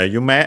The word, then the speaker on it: 夢: uh by dream uh or dreams in uh in our case it's dreams here uh you may as a reminder is accented on the last syllable.